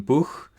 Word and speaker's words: Buch: So as in German Buch.